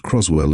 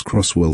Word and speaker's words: Croswell: The clerk who performed the ceremony was a middle-aged woman named Patricia, who mispronounced Croswell as Crosswell 3 times before I stopped correcting her.